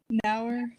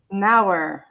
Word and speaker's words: Nauer: How do you pronounce that last name? Nauer. Nauer. Perfect. Thank you. Like hour. Nauer.